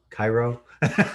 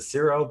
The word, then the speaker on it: Ciro: here with Ciro, aka Cairo, Marchetti. I think Cairo sounds better. I than know, Ciro. but I just saw an interview on him, and they pronounce it Ciro, but whatever you want